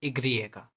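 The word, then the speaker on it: i griega: Spanish Y, Spanish के वाई को बोलते हैं इग्रिएगा, इग्रिएगा। इसका इसका प्रोनाउंसिएशन डिपेंड करता है कंट्री वाइज।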